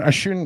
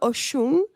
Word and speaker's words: Osun: Ashun, did you say? Oshun. Yes, Ocean. Oshun, just like that. It's pronounced Oshun. It is spelled Osun, I got it.